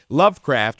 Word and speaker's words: LVCRFT: Lovecraft, which is spelled LVCRFT, they are a group